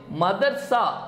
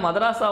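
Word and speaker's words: madrasa: அடுத்த கேள்வி which is the first state to abolish மதர்சா board? மதராசா அதாவது வந்து என்ன அப்படின்னா மதராசா வாரியத்தை ஒழித்த முதல் மாநிலம் எதுன்னு சொன்னேன். ஒருத்தர் வந்து கமெண்ட் பண்ணியிருந்தார், சார் இது மதராசா இல்லை இது மதர்சான்னு ப்ரொனவுன்ஸ் பண்ணோம் அப்படின்னு சொல்லிட்டு ஒரு ஒரு முஸ்லீம் ஃப்ரெண்ட் ஒருத்தர் கமெண்ட் பண்ணியிருந்தார்.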